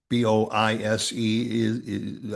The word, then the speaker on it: Boise: Uh Boise is Boise. Well, yeah. b o i s e I think you would pronounce it Boise, and it is Boise.